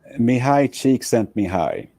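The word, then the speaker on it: Mihaly Csikszentmihalyi: and I want you to be able to pronounce his full name for us. Please say his full name correctly. Mihai Csikszentmihalyi, but he said, okay, call me Mike.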